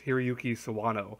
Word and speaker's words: Hiroyuki Sawano: And the music's done by I have to look up his name because I always forget how to pronounce it. It's Hiroyuki Sawano, who does a lot of music.